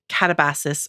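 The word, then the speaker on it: Katabasis: Um, I'm here to talk about her newest book that came out in September called Catabasis or Katabas. Um, she says it's okay to pronounce it either way.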